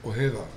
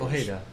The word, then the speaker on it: Ojeda: Ojeda sounds better than people. Sometimes they treat the J like an H, like Jose.